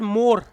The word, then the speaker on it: Moore: Okay, it is pronounced as Moore, like M-O-R-E.